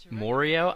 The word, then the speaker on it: Mario: can't really use that my pronunciation of Mario by the way that's that's me that's actually how I pronounce it I know people make fun of me they tell me it's morio I don't know I can't even pronounce it the way people tell me to but I blame that on my New Jersey upbringing I don't live in